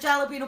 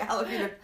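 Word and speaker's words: jalapeño: get off the the subway right it had jalipeno peppers on it bar doesn't like jalap jalapeno oh I didn't say it right jalapeno so he picked them off and threw them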